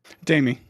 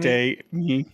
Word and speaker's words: Damie: Of course, I get to be joined by, do you say, how do you say it, Dammy or Dami? Damie. Like Damie? day me. Yeah. Damie? That sounds a little too close to date me at that point.